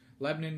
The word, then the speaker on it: Lebanon: However, um due to Leadium Men Fiber Arts vending in, uh Lebanon or Lebanon, excuse me, I was corrected on how to pronounce it. Lebanon, Missouri last weekend at FiberU.